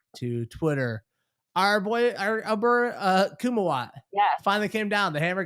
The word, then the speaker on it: Kumawat: were planning this out we couldn't say it right we kept saying kumquat and you're actually saying it correct now sorry my man kuma